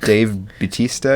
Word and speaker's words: Bautista: Well, then Dave Bautista, I think is how you say his name.